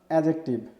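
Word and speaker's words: adjective: এটা আমরা পূর্বে উচ্চারণ করতাম অ্যাডজেক্টিভ, তো এখন আমাদের এটা উচ্চারণটা হচ্ছে অ্যাডজেক্টিভ, পরিবর্তন হয়ে গিয়েছে অ্যাডজেক্টিভ, অর্থাৎ ডির উচ্চারণটা হবে না। আপনি ডির উচ্চারণ ছাড়া এটাকে উচ্চারণ করুন তাহলে সেটি সঠিক হবে।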